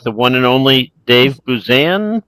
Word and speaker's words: Buzan: And we are joined here today with the one and only Dave Buzzan. Busan. How do you say your last name? Buzzanne.